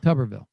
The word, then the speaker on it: Tuberville: How do you pronounce his last name? Tuberville? Tuberville.